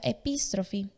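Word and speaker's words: ἐπιστροφή: La conversión en griego se pronuncia epístrofe.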